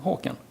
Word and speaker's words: Håkan: Håkan is a Swedish name, kind of hard to pronounce, but just use the hawk in the beginning and add the N on the end, and then you have Håkan.